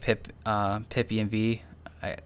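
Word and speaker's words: pipenv: Yeah, the I do like pip env. That's the way I pronounce it.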